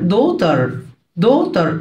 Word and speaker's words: daughter: ابنة daughter جي وال اتش سايلنت اكتبهم بس مش انطقهم.